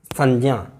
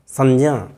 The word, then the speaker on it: संज्ञा: अब इस तरह से संज्ञा, संज्ञा मतलब न होना चाहिए, न इसका उच्चारण होना चाहिए।